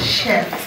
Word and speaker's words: chef: you there it's pronounced Chef not Chef not Chef okay most of the things in culinary Industries are from France because that's the that's